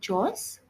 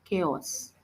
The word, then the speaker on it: chaos: It's called chaos, not chores, chaos. Chaos.